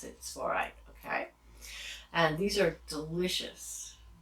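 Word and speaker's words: Tsavorite: with Venus, then you might want to use Svorite garnets. That's T-S-A-V-O-R-I-T-E. Svorite. It's hard when you see it. It's hard to read it, but that's how you pronounce it. Svorite.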